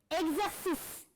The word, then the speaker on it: exercice: Exercice. Très bien, exercice. Est-ce qu'on entend exi ou bien exé? Exercice, exé.